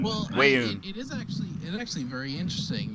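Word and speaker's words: Weyoun: Rayun. Well, Wayun.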